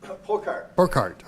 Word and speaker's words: Burkhart: Burkhart. Okay. Rhymes with go-kart.